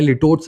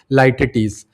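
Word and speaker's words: litotes: ये ऐसे ही प्रोनाउंस होता है। लिटोट्स नहीं पढ़ते इसको। Exact pronunciation is लाइटटीस।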